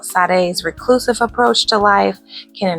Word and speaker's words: Sade: Miss Sade Adu some people also call her shade but it's pronounced Sade Sade is a Grammy winning artist who has